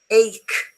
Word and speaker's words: ache: There are some words in English which are written with a CH, but they are pronounced K, as in chemist, as in choir, psychiatry, ache, stomach, chaos, chasm.